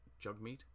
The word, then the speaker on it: Jagmeet: This guy on the left here, his name is, it's properly pronounced Jagmeet, but of course it spells Jagmeet.